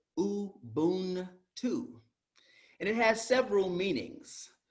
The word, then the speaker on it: Ubuntu: You pronounce it uu-Boon-too.